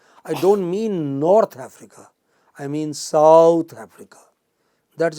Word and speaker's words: Africa: Where is the stress in this case? In the first syllable, in Africa. It does not say Africa. It does not say Africa. It says Africa. Since I returned from South Africa, not on the south, but on Africa.